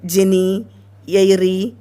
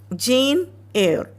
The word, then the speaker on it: Jane Eyre: So I hear children telling Jenny, Eyre, like that and all. So that is not the right pronunciation. It is Jane Eyre.